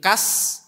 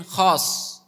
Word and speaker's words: khos: Mukmin kas itu maksudnya mukmin khos. Dari bahasa Arab khos itu khusus. Orang Jawa kan biasa lidah Jawa. Mukmin khos itu diucapkan jadi kas, mukmin kas gitu.